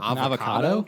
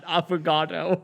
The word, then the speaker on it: affogato: An avocado? No, no, it sounds like it's spelled AFFOGATO. An affogato.